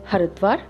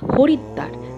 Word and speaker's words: হরিদ্বার: আর শহরটিকে উচ্চারণ ভেদে হরিদ্বার বা হরিদ্বার দুটোই বলে থাকে।